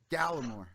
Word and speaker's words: Gallemore: That's actually pronounced Gallemore, by the way. Gallemore.